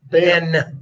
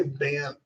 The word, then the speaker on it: Banff: How do you say Banff? Banff. Banff. Just real quick. What are the 2 F's for? That's what they're for. Kind of like 2 L's in Lloyd. Right. One's silent.